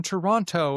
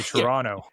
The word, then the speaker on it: Toronto: They said, "Oh, it's great to be here in Toronto." And I'm like, they're clearly not from here. We say Toronto. You're not from around here, are you? We don't pronounce the second T.